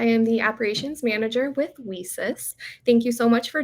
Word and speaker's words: WiCyS: acronym which is um whis is pronounced as we sisters because we are a global cyber security Sisterhood uh we are a